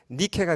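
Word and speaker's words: Νίκη: 하면 이제 명사가 되면 니케가 됩니다. 니케. 니케는 영어로 빅토리죠. 빅토리. 어, 그리스 신화에 나오는 그 승리의 여신의 이름이 헬라어로 이제 발음을 하면 니케이고 영어 발음으로 하면 뭐죠?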